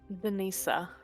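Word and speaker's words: Denitsa: Denisa. Denisa. So the I have TS makes it like Tsar, like it's Russian or Slavic right, pronunciation.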